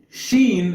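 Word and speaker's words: شين: it's pronounced like s Sheen is like s h you know Sheen they're writing rules now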